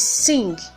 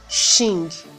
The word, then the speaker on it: sing: It is sing and not shing.